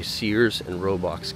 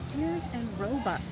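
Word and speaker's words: Sears, Roebuck: bought out of a Sears and roox catalog you said it wrong again I said it wrong again what how do you say it it's Sears and Robux Sears and robu don't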